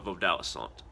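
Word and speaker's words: Vodouisant: That's I'm a Vodouissant, is how you say it. It's a French word, but it means a practitioner of Vodou.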